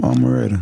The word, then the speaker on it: Amaretta: Maretta. Yeah, from Atlanta. I hope I ain't saying her name wrong. No. Yeah, that's her name, Amaretta.